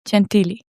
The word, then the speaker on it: Gentili: I tried to pronounce it the Italian way, but you are from the States, so they call you Gentili. But it's Gentili.